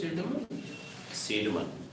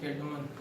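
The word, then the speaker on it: Cædmon: Pronunciation is Seidman. Seidman. Okay. I pronunciate it Kedman.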